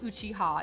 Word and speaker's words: Uchiha: So an Uchiha is, and it is spelled Uchiha, it's pronounced Uchiha, is a fan.